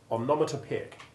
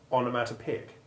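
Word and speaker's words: onomatopoeic: also the grammatical term omnometer peak which describes words deriving from the sound of their associated action like splash it can also be pronounced onomatopic which is less good but more often heard we also noted that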